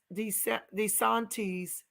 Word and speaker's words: DeSantis: communities and killing us his name is DeSantis not this anglicized pronounced pronunciation watch out for these